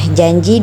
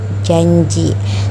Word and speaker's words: janji: ada pada kata janji nah janji di sini bisa kita lihat pengucapannya n seperti di sebelahnya yaitu janji terdapat huruf y di situ karena J itu letaknya ada di palatal contoh asimilasi yang kedua